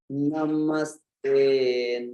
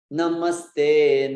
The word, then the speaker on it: Namaste: Namaste Narasimhaya. Yeah. It's not Namaste. It's Namaste. So the first na is short.